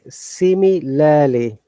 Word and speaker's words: similarly: Okay, similarly. In British English, R is silent.